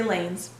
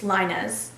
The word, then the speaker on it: Lainez: Reading it, most people say Lanes, but that's incorrect. So a lot of times what I tell people is just Linez, but when my dad